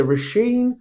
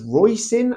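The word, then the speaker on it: Róisín: went to University with a rashen which is a beautiful Irish name but everyone in England referred to her as royen as in Hoin and she was exhausted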